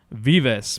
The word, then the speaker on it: Vives: Marcus Antelante defeats Mark Vives by decision. Yeah, I had to look it up again. I literally Troy texted us last week. It was like, hey, it's Vives. It's 2 syllables. It's not one.